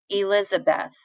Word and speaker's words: Elizabeth: pronounce your name so let's think about my name Elizabeth e Liz a Beth so I don't stress the E I put